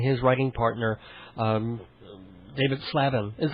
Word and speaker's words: Slavin: also he and his writing partner um David slavin is it's pronounced slavin I've been slaming away mispronouncing it all this